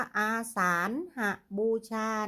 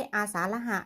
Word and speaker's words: อาสาฬหบูชา: สาน เข้า ศาล อาสาฬหบูชา คัน นี้ อ่าน ว่า อาสาฬหบูชา นะ คะ ไม่ ใช่ อา สาฬ หะ นะ คะ อาสาฬหบูชา ค่ะ ก็ ไป